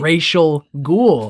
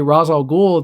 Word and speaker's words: Ra's al Ghul: mega racist villain this racial ghoul that's Rachel and that's what Batman says racial ghoul and so even the comic tells you how to pronounce a name but in this they I guess ignored that panel along with the artwork and they say Ra's al Ghul the whole time and